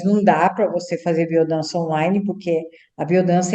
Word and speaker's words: Biodanza: Agora, Catina, quem frequenta a biodança, que, aliás, para a gente aqui ficar mais familiarizado, a gente fala biodança, mas se escreve biodança, com Z, É, né?